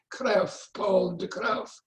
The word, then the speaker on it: Paul de Kruif: I've learned to pronounce it like a Dutch person, Paul de Kruif, called The Microbe Hunters.